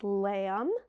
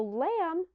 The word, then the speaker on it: lamb: it in words like lamb and it just makes the M sound the B is the silent letter so lamb rhymes with words that also just end with an M because it just has